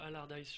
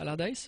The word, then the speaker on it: Allardyce: Ouais, c'est Comment tu le prononces? Allardyce. je Allardyce, ok, Ouais.